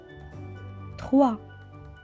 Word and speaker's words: trois: fois 2les givre 3 veuillez noter que la lettre s à la fin ne se prononcent pas c'est une lettre me est aussi répéter encore une fois 3 le chiffre 4 encore